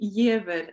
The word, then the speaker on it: Giaever: my name is yid and you did very well actually Cynthia my name is not that easy to pronounce the reason I have this name is entirely my father's fault he is Norwegian I am Norwegian um